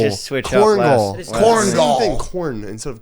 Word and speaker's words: Korengal: changed it, now that oh, you've- Korengal, that's what it's pronounced. Well, I Korengal mean, Valley. bro, now you've changed it completely. It's Yeah. like Connecticut and Kentucky. Yeah. You have no. Korengal, You can't Kongal, just switch up Korengal.